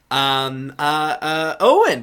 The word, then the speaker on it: Eoghan: And Owen is spelled EOGHAN.